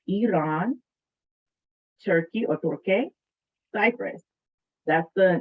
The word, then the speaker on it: Iran: pronounced in the ah i part is not pronounced in either farsi or arabic so it's iran turkey or cyprus that's